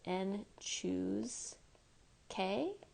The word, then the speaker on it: n choose k: So this is pronounced n choose k.